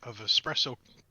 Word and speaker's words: espresso: 24 pack of expressive espresso coffee that way come up so help me if you pronounce it with an X again I'm gonna hurt somebody don't you do that so don't don't dark